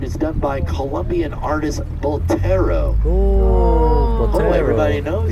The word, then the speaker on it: Botero: Did I say it right? Botero. Botero, yeah. Botero. You gotta roll that R.